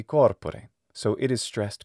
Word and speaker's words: corpore: of latin is that it has to have the right stress accent and the right location so it can't be corpore it can't be corpore it must be corpore so it is stressed